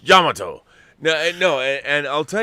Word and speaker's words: Yamato: you say space battleship yamato in japan they pronounce it yamato yamato yamato people always correcting me